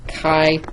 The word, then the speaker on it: chi: this thing called the kai Squared Distribution that's Chi and it's pronounced Kai and some properties of